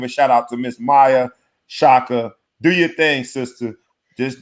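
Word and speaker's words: Maia Chaka: Maya Shaka is how you say her name.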